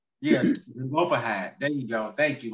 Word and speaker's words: Zelophehad: I don't want to say his name wrong. Look at that name. And the name was Zelophehad. Yes, Zelophehad.